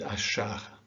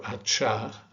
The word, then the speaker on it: achar: in chop or chat in portuguese it is a soft shirt like in shop or shock and so this is read as shuva and ashar okay so that's something to remember because it's not natural naturally you would want to say chuva or achar but it is a soft she that you need to use here the next letter has